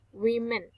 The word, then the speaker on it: women: And then the difference in the pronunciation of woman and women is in the first vowel.